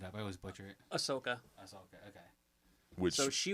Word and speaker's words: Ahsoka: always mess it up i always butcher it ahsoka that's okay okay so she was originally from